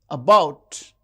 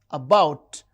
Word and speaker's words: about: And about, about. The second syllable is stressed.